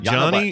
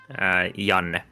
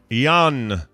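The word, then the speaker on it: Jana: Is it Johnny or Yana? How do you say it? Jan. Jan. Jan. Okay, so you don't even pronounce the last.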